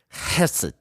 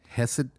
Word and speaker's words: hesed: The Hesed. Hesed.